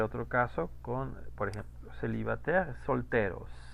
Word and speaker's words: célibataire: Bueno, vamos a ver otro caso con, por ejemplo, célibataire, soltero. Célibataire, ahí está, célibataire. Aquí está el mismo diptongo. ¿Cómo lo pronuncié? Como una E. Célibataire.